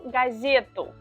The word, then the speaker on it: газету: We say я читаю газету, газету. The stressed syllable is exactly the same. Газета, газету.